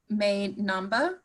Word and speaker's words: May Namba: The artist's name, May Namba, I pronounced that right?